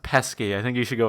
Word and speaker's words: Pesci: Pesci looking at him I think it's pronounced pesky I think you should